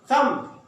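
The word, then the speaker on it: thumb: थम अंगूठा, यहां भी बी को साइलेंट करेंगे आप, थम।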